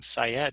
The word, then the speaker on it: Syed: an m and my last name syed is like psychology educator sy ed so syed i